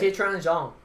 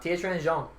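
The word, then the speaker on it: Tiequan Zhang: Tietran Zhang. Huh? Tietran Zhang.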